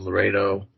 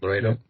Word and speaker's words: Loretto: builders were considered miraculous by the sisters of Laredo Lo. How am I how am I pronouncing that? Loredo Ledo. Yeah, Loredo.